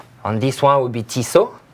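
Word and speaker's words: Tissot: this one would be t so not t SOT NAT ISA yeah it's pretty pretty simple T so pretty simple yeah there's no T at the end that's correct next on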